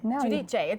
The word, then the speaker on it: Giudice: Christmas Eve dinner and I screwed up your last name didn't I Jud Jay that's how you say it it okay I was